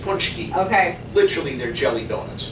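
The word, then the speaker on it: pączki: p a c z k i but that's pronounced poncho okay literally they're jelly donuts got it the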